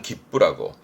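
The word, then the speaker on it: 切符: 발음은 기쁘입니다. 자르다 할 때 기르니까 거기서 나오긴 합니다만 기쁘라고.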